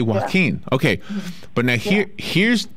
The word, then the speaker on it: Joaquin: Joaquin, the way I learned how to say it, is the way the Spanish-speaking people from Spain would say it.